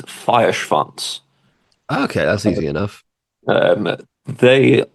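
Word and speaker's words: Feuerschwanz: According to the singer, it's Feierschwanz.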